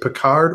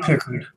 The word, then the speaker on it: Picard: Is it Picard or how would? It's pronounced Pickard. Pickard.